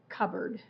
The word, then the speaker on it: cupboard: have to say the pe ok cobboard c cupboard cupboard see ကျွန်မအတွက်နည်းနည်းခက်တယ်။ Since for me ဆိုတော့အားမငယ်နဲ့နော်။ကျွန်မလည်းအဲ့ဒါထွက်ရတာနည်းနည်းခက်တယ်။ Can you please say it again?